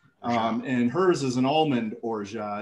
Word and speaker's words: orgeat: So one of the ingredients Adina will talk about is she made it's pronounced orgeat. And hers is an almond orgeat.